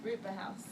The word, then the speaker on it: Rutba House: children together live in Rutba House. Did I pronounce that correctly? That's right, Rutba House.